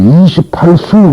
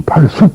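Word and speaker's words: 이십팔수: 때는 수 숙이라고 읽습니다 그러니까이 숙이라고 읽어서 안 되고 수라고 읽지 28수 그래야지 28숙 그러면 안 된다는 얘기죠 하늘은 28수 있다 그렇게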